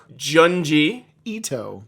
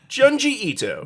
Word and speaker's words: Junji Ito: Chris is going to now learn how to pronounce junji junji Ito Ito junji Ito junji ito's name he is very important he